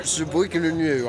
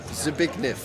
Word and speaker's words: Zbigniew: Zbigniew, it's pronounced. There we are. Ricky said it's pronounced Zbigniew.